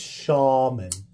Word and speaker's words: Shaman: the yeah sure I've got the spider Co shamon out here that's not not how you say Shaman it's Shaman it's spider Co Shaman yeah I've been mispronouncing